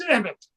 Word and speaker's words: Emmet: It's Emmett. Emmett.